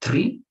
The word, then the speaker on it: three: to be here okay so the first one is explosive tree three three the second one is more like fluid three three three okay let's repeat the